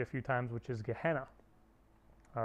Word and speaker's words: Gehenna: And in Hebrew, in the Old Testament, instead of saying Gehenna is how you say it in Greek, you said Hinnom, verse 10.